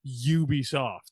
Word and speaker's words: Ubisoft: my head of like, it's not the Wii U, it's the Wii U, so it's Ubisoft. Like I remember specifically that like quote is so like whatever. Now whenever I hear people pronounce it Ubisoft, which a lot of people do, I just kind of I cringe a little bit. It's actually Ubisoft.